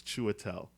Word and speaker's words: Chiwetel: It's Chiwetel, so you have to have the chew in there. Okay.